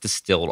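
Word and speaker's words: DSTLD: ollars then I found distilled DST LD pronounced distilled offers premium denim and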